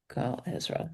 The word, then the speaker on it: Gal Ezra: yourself It's Gal, Gala, Ezra, Ezra. So Gal A. Ezra. Gal Ezra.